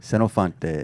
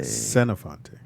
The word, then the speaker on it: Senofonte: spell that. Mm-hmm. SENOFONTE. I'm sorry. How you say it? Senofante. Senofante.